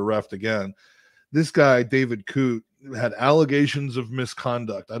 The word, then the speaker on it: Coote: i looked them up how did you pronounce c-o-o-t-e it's not the word i think is it hoot oh no i thought was another word i looked up david coot because i've never seen